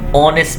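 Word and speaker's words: honest: अब हॉनेस्ट माने ईमानदार, अब उसको हम हॉनेस्ट नहीं बोलेंगे, ऑनेस्ट बोलेंगे। तो यहाँ पर एच साइलेंट होके ऑनेस्ट, ही इज अ ऑनेस्ट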